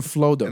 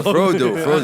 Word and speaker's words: Frodo: No, you know how Frodo look, leaves. No, Frodo- stop. Frodo. Stop. Frodo. I think Frodo. Hold on. No. Hold on. He just called him Flodo. No, Frodo.